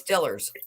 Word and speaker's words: Steelers: It's Stillers.